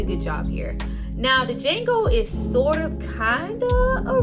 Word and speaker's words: Django: Django. Can you spell it? The D is silent?